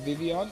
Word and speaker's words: Vivillon: So I thought I'll bring in my Vivillon. Now, I call it Vivillon, but I found out why it's called Vivion is because Papillon, or Papillon, is spelt with a double L.